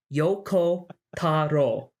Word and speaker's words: Yoko Taro: that it japanese you it's spelled exactly how it sounds yoko taro it's very simple and